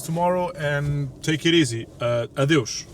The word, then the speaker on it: Adeus: Adeus. That's how you say it in Portuguese.